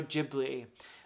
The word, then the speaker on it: Ghibli: The way I've been describing this to people is it's Dickens meets Studio Ghibli or Gibli if you prefer the Italian pronunciation.